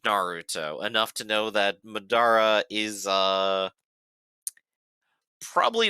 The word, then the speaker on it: Madara: I guess I've just been pronouncing his name wrong the whole time. I always thought it was Madra.